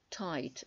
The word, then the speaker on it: tight: I-G-H, когда есть в слове, G-H не читается. И вот все слова с этим буквосочетанием, которые I-G-H, середине слова, читается как I. Night, ночь. Tight.